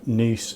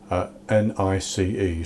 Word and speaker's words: Nice: Today I'm going to be making some Nice biscuits. Nice is spelled N-I-C-E, so you would normally pronounce it nice, but in the case of these biscuits it's pronounced Nice.